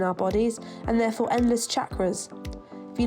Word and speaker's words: chakra: In fact, the official translation of Sanskrit says that the letter C is pronounced CH, as in church. So chakra used to be spelled without the H.